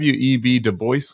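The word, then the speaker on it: Du Bois: was on the web deboy lectures he gave in 2011 he pronounced it de Boyce is that right exactly yeah why is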